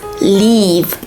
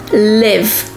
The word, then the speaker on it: leave: pack up in silence leave not live so that's the difference in pronunciation again is the same sound e leave like feel like heat and live hit fill in so now if you